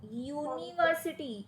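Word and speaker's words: university: यूनिवर्सिटी में यू आपका vowel है, बट उसमें यू का साउंड वाउल नहीं है। इट is pronouncing with you, य। तो इसीलिए, यानी कि अगर आप इंग्लिश में लिखोगे तो यू वाई ओ यू, यूनिवर्सिटी, वाई ओ यू, ये वाला साउंड है यूनिवर्सिटी।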